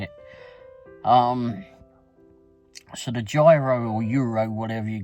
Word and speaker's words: gyro: Anyhow, so but I've seen recently, or somewhat recently, that they did what I would call gyro. It's spelled Gyro, which to me spells gyro. Apparently it's called Euro.